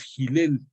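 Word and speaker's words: Hillel: de un gran rabí que su nombre es gel gel con h así se pronuncia gel pero se escribe con h y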